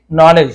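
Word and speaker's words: knowledge: he wanted तू again नॉलेज he wanted वह चाहता था तू गैन गैन यानी प्राप्त करना है ना नॉलेज नॉलेज यानी जानकारी ज्ञान के साइलेंट होता है कॉलेज नहीं पढ़ेंगे नॉलेज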